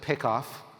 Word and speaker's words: PICOF: I pronounce it PICOF, trying to evoke the baseball play where the pitcher gets the bass runner at first base out when he's getting too far away from first base.